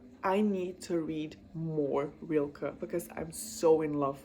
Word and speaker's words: Rilke: I know it's Rilke. I know that is correct because the man is German, I believe, if I'm not wrong. I might be wrong, but his last name is pronounced Rilke.